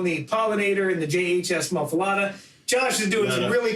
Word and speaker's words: Muffuletta: It's not the Muffuletta. Or Muffuletta or Muffuletta. It's the Muffuletta. Etta. Etta. I own 2 JHS pedals, and I love both of them. I own the Pollinator and the JHS Muffuletta.